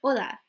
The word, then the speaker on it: hola: In Spanish, you never pronounce the H. It's just a silent letter. Por ejemplo, tenemos hola. So, hola. Okay, I have no hola, nothing, no H. You just drop it and then just pronounce everything else as if the H wasn't there, okay?